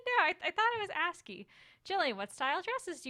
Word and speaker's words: ASCII: to dress nicely Joseph you don't know how to pronounce ASCII asg2 well no it's an ASCII file right Chad says I'm right I'll be right that's